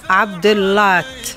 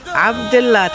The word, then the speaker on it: عبد اللات: وسهلا ونمشي نسمعوا صوت انتبهوا جيدا للنطق را اسمه عمر عبد اللات عبد اللات هكذا عبد الله مش عبدت عبد الله نعم عبد